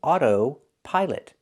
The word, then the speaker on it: autopilot: We don't pronounce it this way. We say autopilot. Auto. We need that long O like no and go. autopilot together.